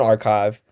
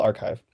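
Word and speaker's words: arXiv: published and actually like on archive um or I think that's how you pronounce it it's r a r x IV I think it's called archive but that's where all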